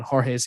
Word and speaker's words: Jorge: want to go on jorge's instagram which is at pronounced jorge spelled h-o-r-h-a-y it's like phonetically how you pronounce it in english and just comment on